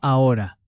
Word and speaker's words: ahora: Te llamo ahora. Te llamo ahora. Te llamo ahora. A quick side note, ahora means now and the H is silent.